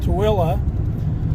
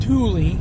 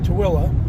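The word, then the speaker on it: Tooele: a little Community called toilla I used to think it was called Tuli cuz that's kind of the way it's spelled on the signs but the locals call it toilla and usually you need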